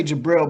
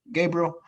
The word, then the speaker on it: Gabriel: I think when I say Jabril because it's the Islamic way of saying it, but I think it's Gabriel. How do you say it? Gabriel? Yeah.